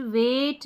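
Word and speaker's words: weight: पर हमारा रूल है इ आई जी एच ए की ध्वनि जैसे देखिए एट वेट नेबर यह है फ्रेट और यह है स्ले इन सभी स्पेलिंग में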